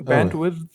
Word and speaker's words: bandwidth: How do you pronounce that? Whatever. What's the word? Bandwidth, Oh, bandwidth.